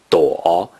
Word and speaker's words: 朵: 躲 is the third tone.